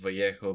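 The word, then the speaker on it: Vallejo: Boris Vio and yes his name is pronounced Vio because he's as it turns out Peruvian uh in origin so does he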